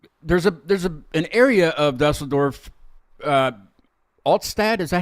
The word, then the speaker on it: Altstadt: the white Dennis is drinking an alt beer, which is a beer, but there's an area of Dusseldorf, Altstadt. Is that how you say it? Correct. Altstadt.